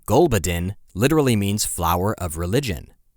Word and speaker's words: Gulbuddin: that's totally fair it's a posh tune name gulbadin g u l bu u d d i